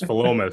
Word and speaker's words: Philomath: You looked at us with this look and said, "You're all wrong. It's like pronounced differently." So it's Philomath.